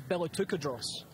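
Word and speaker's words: Balatucadros: Archaeologists have guessed. Based on sort of runic inscriptions, that his name is Balatukadros, and I'm glad I pronounced it correctly.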